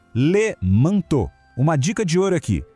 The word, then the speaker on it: manteau: Sempre que virem E, A, U juntos em francês, esse trio tem som de O. Fica fácil, né? Le manteau. Vamos lá, juntos. Le manteau.